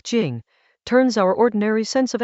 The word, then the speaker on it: Jing: Dao pronounced like Dao and now, the like Dao, Jing like Jing, turns our ordinary sense of excellence inside out.